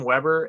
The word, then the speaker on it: Webber: Is your name Weber? Am I pronouncing it correctly?